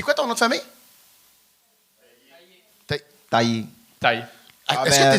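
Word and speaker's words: Taye: Mon nom de famille, c'est T-A-Y-E, Taillé.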